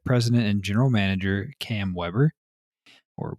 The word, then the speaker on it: Weber: and general manager Cam Weber, or Weber, I don't know how you say that one. There's only one B. How do you pronounce it when it's one B? Weber, like the grill, right?